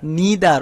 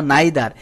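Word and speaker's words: neither: every ইদার অথবা আইদার নিদার অথবা নাইদার এটার প্রোনাউন্সিয়েশন দুটাই হয় ইদার অথবা আইদার নিদার অথবা নাইদার মেনি এ থাকলে ভার্বটি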